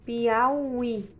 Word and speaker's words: Piauí: Piauí. Você vê que a última sílaba, que é a tônica, ela é seguida de uma outra sílaba, que nós temos aí um encontrozinho, né?